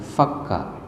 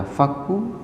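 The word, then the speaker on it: فك: Ibnu Katsir menjelaskan bahwasanya bacaan fakquu itu bisa dibaca dengan faka Nah nanti Imam ke depan boleh membacanya ya boleh membaca faku boleh membaca fqa nah makmum yang tidak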